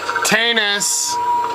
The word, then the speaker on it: Tanus: thing about this is Tanis rhymes with anus he was a nice